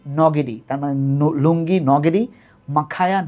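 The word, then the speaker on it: Ngidi: কিনা, কিন্তু তোমরা লুঙ্গি এনগিডির নাম শুনছো, এখন ক্রিকেট খেলে সাউথ আফ্রিকার দলে, এন্টিনি খুব বিখ্যাত ছিল। উচ্চারণটা এন্টিনি বা এনগিডি না, উচ্চারণটা হচ্ছে নটিনি নগিডি, তার মানে লুঙ্গি নগিডি,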